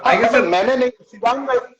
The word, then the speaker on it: शिवांग: शिवांग सर, शिवांग।